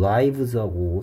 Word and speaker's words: lives: 붙이니까 어쩌다 보니까 리브즈하고 라이브스하고 생김새가 똑같이 됐는데 얘는 지금 살다가 아니고 생명이라는 라이프의 라이프 아이가 아이 발음 나고 있죠 라이프의 복수형이니까 얘도 똑같이 I 발음 내서 라이브를 해야 되겠습니다 읽으면 절대로 안 돼